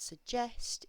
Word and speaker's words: suggest: to tell you about suggest is the stress unusually is on the second syllable so this word is suggest look at propose so